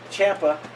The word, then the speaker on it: Ciampa: So that's why I didn't like they put in USA versus US when they put Ciampa, which rhymes with Tampa.